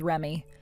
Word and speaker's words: Reme: She has it spelled as Reme, but you're supposed to pronounce it as Remy.